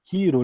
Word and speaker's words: Cheiro: que também era quiromante chamado tiro né que se escreve cheiro ele tinha uma cara